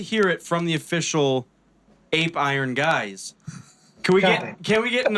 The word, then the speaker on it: Apeiron: Apeiron. I say A as in a heart. It must be pronounced Apeiron.